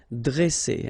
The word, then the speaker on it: dresser: Vowel, vowel, double S, so you pronounce it really strong like S, okay? Dresser. And then when you've got a double consonant after E, you open the sound of the E, so it will be like E, dre, dresser.